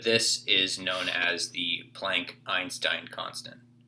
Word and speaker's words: Planck: is known as the planck einstein constant sometimes you hear people pronounce it plonk which is probably more appropriate but i'm just not